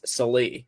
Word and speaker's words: Salih: Hey, Scott Sally says he's watching, or I think it's Salih. Sorry. I think that's the correct pronunciation.